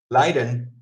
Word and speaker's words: Leiden: Because Leiden is lead. Leiden is suffering. Leiden is lead, like a leader.